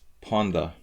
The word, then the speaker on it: panda: Hungarians pronounce panda as ponda, so it sounds like ponda in Hungarian, which is part of the joke.